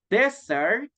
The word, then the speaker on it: desert: it's the same pronunciation then we have desert desert so be careful with the pronunciations guys because if we say dessert we are trying to say for example a cupcake a cake or an apple pie so that it's a dessert dessert but in this case this one is Desert okay then we have